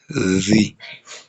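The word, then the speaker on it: ذِ: Ça va se prononcer Zi. Zi. Ça se prononce Zi.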